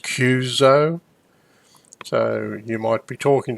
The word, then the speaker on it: QSO: qso with so-and-so but a qso and it's normally pronounced cuzo so you might be